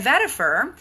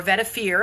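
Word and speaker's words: vetiver: And then vetifer or vetir. I've heard it pronounced both ways that brings you back to nature.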